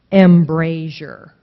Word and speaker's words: embrasure: Embrasure. A little different on the first vowel sound. Instead of embrasure, it's embrasure.